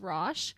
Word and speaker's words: Roch: pronounce his name is rash but he later changed the pronunciation to rock which is the anglicisation of his name so I'm going to